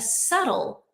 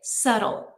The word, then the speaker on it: subtle: So which of the following is considered a subtle gesture? And I want to point out that the pronunciation of subtle that B we do not say it subtle. Subtle. The B is totally silent.